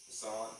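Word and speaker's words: façade: The small onestory medical office next to the house includes a square That word is facade. That's what it is. Facade. What a weird way to spell that.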